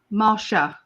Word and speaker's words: Marcia: go ahead oh so how do you say it marchia Marcia Marsha Marsha like The Brady Bunch Marcia Marcia Marcia Marsha